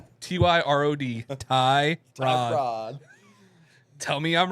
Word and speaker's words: Tyrod: the car Tyrod Taylor baby that's his name Ty r o d tyod Rod tell me I'm wrong is it